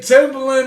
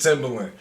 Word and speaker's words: Timbaland: i disrespected timberlane if the legends say that timbaland is a ball i gotta stand corrected right now because i disrespected timberland i say it like not but if the